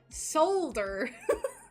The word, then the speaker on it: solder: So I feel like I overpronounce the D. Solder.